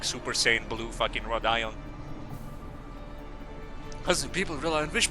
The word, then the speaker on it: Rodion: My favorite Limbus Company character is Rhode Ion. She's a real Texan patriot. Yeehaw, partner. That's exactly British. Yeah, Rodion. Yeah. That's how you spell it in Russian and pronounce it in Russian.